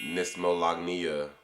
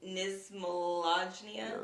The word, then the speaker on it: knismolagnia: Nismolagnia. How would you say it? Like knife, so just with the N, Nismolagnia.